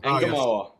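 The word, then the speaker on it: Ngumoha: Engamoa.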